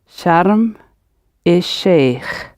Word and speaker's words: Sharm el-Sheikh: Notice the pronunciation. Sharm el-Sheikh.